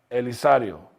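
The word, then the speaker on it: Elizario: Now, eventually, it will be pronounced Elisario. So that is San Elisario today.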